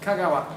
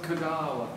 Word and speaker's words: Kagawa: Japanese pronunciation. Never long. Usami. Never long. Kagawa, not Kagawa.